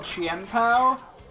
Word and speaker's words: Chien-Pao: This is this Pokemon that I've been using is called Qianpao.